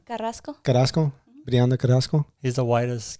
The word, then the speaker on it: Carrasco: how do you say your last name carrasco carrasco briana carrasco he's the whitest guy i am